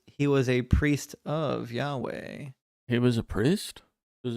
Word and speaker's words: Yahweh: and the worship of the the god uh Yahoo or Yahweh yah it's the same name different pronunciation it's Yahweh okay the long and short of it is